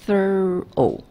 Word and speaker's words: thorough: 或什么，其实它是 thorough， OR 是发 er 的音，O-U-G-H 是发 O 的音，所以是 thorough，但因为 thir